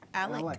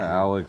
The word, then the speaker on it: Alec: Alec. Bradley. Alex.